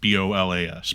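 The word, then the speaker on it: bolas: The pools of watery metal begin to congeal on the ground and quickly forms into what looks like a bola. Like B-O-L-A-S, bola.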